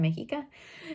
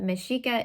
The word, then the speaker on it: Mexica: in my first video i think i said mexica but meshika is how the nawa people say it so anyway um this